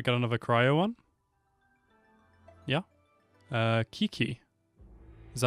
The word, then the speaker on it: Qiqi: Qiqi. Is that how you pronounce that? I am Qiqi. Oh, Qiqi.